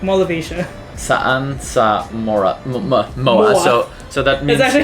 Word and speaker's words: MOA: Saan sa MOA. So that means That's actually how we pronounce MOA.